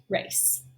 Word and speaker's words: race: to that c right it makes it say this sound so we give it the rainbow or bridge s and then we have a long a so that word is pronounced race all right and then